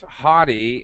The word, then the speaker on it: haughty: it is good word i can't i can't pronounce it properly no no no you did that you are absolutely right it's haughty and i should actually uh well come on